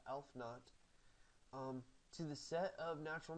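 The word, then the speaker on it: aleph-naught: And he studied the mathematics of infinity and assigned the transfinite cardinal number elf naught, that's how you pronounce that, elf naught, to the set of natural numbers.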